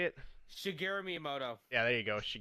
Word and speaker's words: Shigeru Miyamoto: creator Singh grew syngress how you say it shigeru miyamoto yeah there you go she Gary me I'm